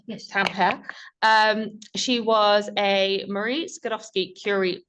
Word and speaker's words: Tampere: Before moving to Tampere, is that how it's pronounced? Yes. Tampere.